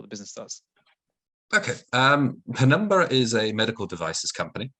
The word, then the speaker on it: Penumbra: yeah and the way and the way to pronounce it is pembroke isn't it oh is that a number penumbra there you go a number so penumbra is